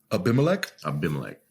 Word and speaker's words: Abimelech: Abimelech. And Abimelech, king of Gerar, sent and took Sarah.